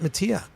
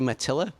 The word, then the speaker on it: Mattila: show the podcast Mattia did I pronounce your name correctly that's a much cooler way of pronouncing it but it's actually Mattila it is Mattila but I